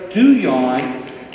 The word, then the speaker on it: Duhon: And a new friend is Dr. Sarah Duyon, the French pronunciation of Duhon.